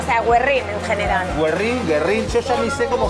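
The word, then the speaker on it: Güerrín: Guerrín, yo ya ni sé cómo se dice. Me dijeron que era Guerrín, con la diéresis Guerrín, pero la gente dice Guerrín. No escucho la palabra diéresis desde que iba a la escuela.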